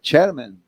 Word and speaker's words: chairman: Economista e e ele será vice, como é que é a pronúncia correta, Maurício? É chairman. Chairman.